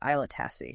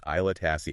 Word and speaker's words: Aila Tasse: And that's pronounced Aila Tasse, right? Yeah, exactly. Aila Tasse.